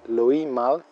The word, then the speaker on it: Louis Malle: el realizador francés güímar no se pronuncia la s de ese nombre lewis mal según tengo entendido escuchando a hablar a los franceses tenía 24 años de